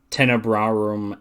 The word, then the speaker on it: Tenebrarum: There's one, how do you pronounce her name again? Is it Tenebrarum? Tenebrarum and Lacrimarum.